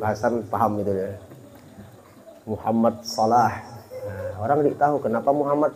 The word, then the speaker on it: Salah: Muhammad Salah. Orang tidak tahu kenapa Muhammad Salah. Kalau kita yang paham jangan Muhammad Salah bacanya. Sayang Muhammadnya itu. Jadi pakai sod. Jadi tulisannya sod.